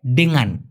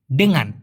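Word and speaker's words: dengan: সঠিক উচ্চারণটা হচ্ছে ডেঙ্গান। ডেঙ্গান।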